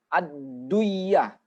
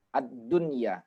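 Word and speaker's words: الدنيا: ndak boleh sedih diidghamkan Enggak boleh bacanya adliyah adliyah Anda boleh karena apa Karena ini adalah satu kata asli satu kata asli memang itulah bentuk asli daripada kata ini jadi dia tidak boleh diidghamkan bacanya tetap abdun ya ad dunia tidak boleh aduh Iya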